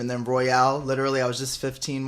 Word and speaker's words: Elijah Røyal: And then I looked it up and seen how it was pronounced, and then it's pronounced Røyal instead of Royal.